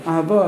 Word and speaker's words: Ahava: Ahava is only the way Ashkenazim pronounce it, but it's written Aleph Hey Vav Aleph, not with a vase.